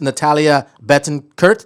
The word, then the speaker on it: Natalia Betancurt: she's a beauty she's all around everything miss natalia bettencourt did i say that right that's perfectly pronounced good morning everyone good morning thank you